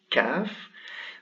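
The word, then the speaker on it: كاف: written like this and it is pronounced as a regular ka kaf this one here is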